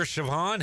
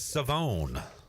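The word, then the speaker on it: Shavon Revel: in the secondary um I always mispronounce his name savone Revel yes no longer Siobhan he is savone savone Rebel um he's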